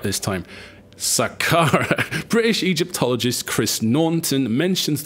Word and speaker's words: Saqqara: There we go, I pronounced it right this time. Saqqara.